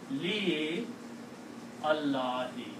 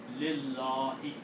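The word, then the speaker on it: لِلَّهِ: You can pronounce, if you want to, if you are a slow reader, you can say Li Allahi. You can pronounce, there's nothing wrong in that. But according to the rule of Tajweed, you can drop. You have the option of dropping alif here and pronounce Lillahi.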